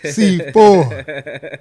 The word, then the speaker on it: Sifo: Sifo. What's up, brother? And you said it right. A lot of people say Sifo or Sfiso. So Yeah. You actually said it right.